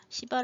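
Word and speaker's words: शिव: 씨바 라고 쓰기도 합니다 시바 라고 쓰기도 한 콩으로 쓸 때는 시 바랄 수 있기도 하고 쉬바 라고 쓰기도 하는데 발음을 쉬바 에 가까워요 영어로 쓸 때는 c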